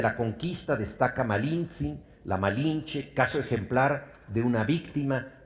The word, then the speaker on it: Malinche: sus capitanes condenándolo esclavitud los indígenas que no pronunciaban la r La llamaron malinzin nombre que para los oídos españoles se transformó en malinche malinzi hablaba cuatro idiomas